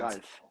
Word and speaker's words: Ralf: How do Yeah, you my pronounce name is it? Ralf.